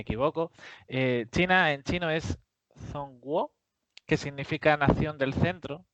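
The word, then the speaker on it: 中国: En primer lugar, bueno, se pronuncia Zhongguo.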